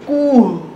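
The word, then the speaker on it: کوه: এরপরে উ, উচ্চারণটা হবে কুহ, কুহ মানে পাহাড়। যখন আমরা এরকম বর্ণ দেখতে পাবো বা এরকম গঠনে অন্য কোনো শব্দ লেখা থাকবে তখন তার উচ্চারণটা এভাবে বুলান্দ বা লম্বা করে করতে হবে, কুহ।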